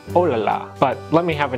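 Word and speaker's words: oh là là: What we've heard as ooh la la is actually oh la la.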